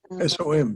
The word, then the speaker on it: Som: Is it S-O-N? S-O-M, Som.